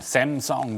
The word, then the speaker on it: 삼성: 그러니까 뭐 해외에서 보면 삼성 그러면 뭐 걔들 그 사람들 발음이 샘성 뭐 이렇게 하거든.